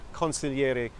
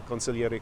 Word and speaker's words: consigliere: well first of all it rhymes with my name consigliere Conor and it describes accurately